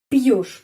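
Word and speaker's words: пьёшь: Пьешь. Penekanannya pada huruf Yo. Biasanya huruf Yo dapat penekanan dalam kata-kata Rusia. Karena itu pengucapannya Yo. Пьешь.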